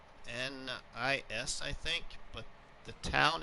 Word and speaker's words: Hyannis: It's Hyannis, I think. But the town is pronounced Hyannis, Nebraska. Hyannis, Nebraska. But we're gonna be heading out to Hyannis because our stepson, took a new teaching job